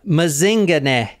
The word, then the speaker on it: Mazingane: paying attention all yeah mazinga and that is how you say it too cuz I actually heard someone in South Africa say it oh like Lazarus mazing